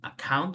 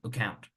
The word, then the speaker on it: account: You don't say account, you say account, account, like the A doesn't exist.